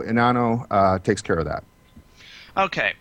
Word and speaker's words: Enano: Go ahead. It's Enano. It's Spanish.